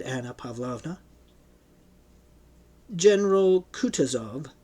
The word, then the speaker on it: Kutuzov: "General Kutuzov," said Bolkonsky, speaking French and stressing the last syllable of the general's name like a Frenchman, "has been pleased to take me as an aide-de-camp."